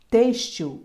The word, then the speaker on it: têxtil: som de z exame Têxtil o X tem som de s Têxtil intaxi o X tem